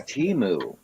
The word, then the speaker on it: Temu: care it's ten moves it's Teemu with TT like tea the drink mood like a cow T is